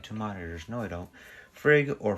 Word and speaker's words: Frigg: Welcome back to Anomalous Coffee and today we're doing Cup of Frigg. Which, who may that be? I almost thought I had two monitors. No, I don't. Frigg, or Frigga, is the queen of the Aesir in Norse mythology.